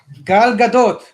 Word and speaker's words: Gal Gadot: to pronounce her name gal gadot is that right gal gadot okay it's a little harder to explain but it's sort of like a jetty you know uh when